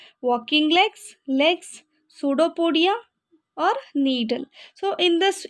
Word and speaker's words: pseudopodia: Here p silent, you need not to pronounce p, you have to say pseudopodia.